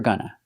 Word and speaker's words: gonna: Pronunciation of gonna, we use the short sound, like cup and up, for both syllables. Gonna, gonna. Same sound, both syllables.